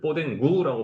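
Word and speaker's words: Podengo: 뒤쫓아오는 추적견을 얘기하고 포르투갈은 포덴고라고 해요. 이제 포덴구라고 발음이 되지만 포덴고이고 스페인어는 포덴코예요.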